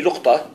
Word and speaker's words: لقطة: So this one they pronounce al-luqta أو al-luqata. يعني some of the علماء they call it luqta, or some of the علماء say luqata. By the language should be luqta.